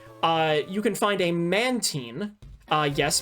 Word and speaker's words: Mantine: Uh you can find a Mantene. Uh yes, Mantine is how it's supposed to be pronounced.